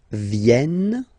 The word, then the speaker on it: viennent: Ils viennent, so remember this classic ending ENT for the third person of the plural is here, but phonetically it doesn't exist, so you don't pronounce it.